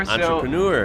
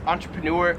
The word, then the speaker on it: entrepreneur: Entrepreneur. So I've always pronounced this entrepreneur. In Australia, they pronounce this entrepreneur. So like entrepreneur.